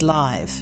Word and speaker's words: live: As an adjective, live is pronounced like hive, and it's used in sentences like, the concert was broadcasted live, capturing the energy of the performers in real time.